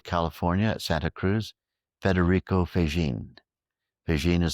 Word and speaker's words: Faggin: Another great physicist from University of California at Santa Cruz, Federico Faggin. Faggin is spelled F-A-G-G-I-N.